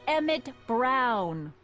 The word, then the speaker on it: Emmett: bill to a T that's Emmett Brown rhymes with clown which I'm beginning to